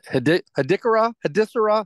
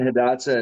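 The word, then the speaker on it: Hidatsa: 10 years ago, I'm interviewing Missouri River Resources and the MHA Nation, Mandan Hadissara. How do you pronounce that, Steve? Sorry, Pop. Mandan, Hadassah, and Arikara.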